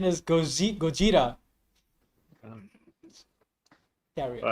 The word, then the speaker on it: Gojira: I'm just like, I believe the correct pronunciation is Gojira.